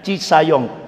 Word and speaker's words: Cisayong: Nah, ibu-ibu yang dimuliakan Allah, jadi intinya ketika Kartosuwiryo memproklamasikan ngadakan kongres pertama negara Islam Indonesia di Cisayong, tapi tulisannya kan Cisajong, bacanya Cisayong, Jawa Barat.